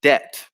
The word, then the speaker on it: debt: silent letters and also the silent b in debt as well which can cause issues for pronunciation and then a final